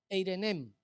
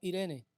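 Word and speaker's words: εἰρήνη: Pero de la segunda paz es Eirenem. Otros la pronuncian como Irene.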